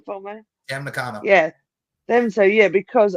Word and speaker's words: Tam Nakano: We got Statlander and Momo against Willow and Tom Nakano.